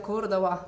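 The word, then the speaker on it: Córdoba: самой и рассказать вам, потому что Кордова это, или здесь говорят Кордова, то есть они Б не очень произносят, этот тоже очень крупный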